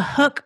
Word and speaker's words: HUK: outdoors you've probably noticed the hook performance fishing brand of apparel it's called it's spelled h-u-k and the brand was